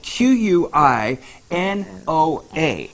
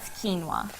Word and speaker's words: quinoa: and on pronounce it it's spelled q UI n o a and it's about quinoa quinoa right you can get a